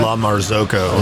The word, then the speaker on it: La Marzocco: La Marzocco. La Yeah. Marzocco, And it's a yeah.